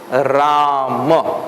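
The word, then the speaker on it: राम: In Hindi, they say Ram. In Hindi, it is said Ram, like that.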